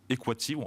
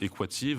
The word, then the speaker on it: Equativ: Et donc, Equative, en français, on va le prononcer Equative. En américain, on verra si vous y arrivez, mais on va essayer de le prononcer Equative, avec un A long.